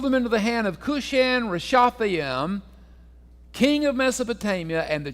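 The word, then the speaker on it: Cushan-rishathaim: and he sold them into the hand of kushan rishatham is how you pronounce that okay say that three or four times real fast all right he sold them into the hand of cushion rashatham king of Mesopotamia and the children of Israel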